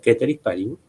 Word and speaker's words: ceteris paribus: El profesor de latín de la facultad me dijo que yo decía ceteris paribus, él dice que en realidad se pronuncia ceteris paribus, él sabe más latín que yo.